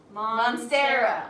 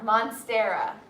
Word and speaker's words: Monstera: you're like so close you're adding an extra syllable monster monstera i always moving